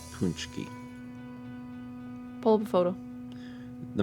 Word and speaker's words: pączki: Other Other pronunciations apparently are pulchki. Pulchki. Where the the a is pronounced like the o in bone.